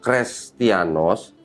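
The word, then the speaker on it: Χρηστιανός: lagi ini kan iya perhatikan yang huruf i ini perhatikan seperti Huruf H iya iya tapi pernah dihapus Heeh jadi i jadi tadi ini huruf Eta setelah dihapus dibacanya Jadi huruf i i jadi Sebenarnya ini adalah kata krestianos setelah dirubah-rubah menjadi kristianos itu beda beda kristianos Kristen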